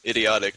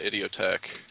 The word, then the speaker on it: IDIOTEQUE: Okay, I've just Any been told kind by of- SOCOM, one of the watchers, saying it's pronounced idiotic, not IDIOTEQUE.